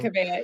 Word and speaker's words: Cabello: Cabello.